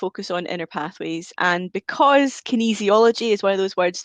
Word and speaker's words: kinesiology: it and i just hope i am still pronouncing it kinesiology you are you are i i do work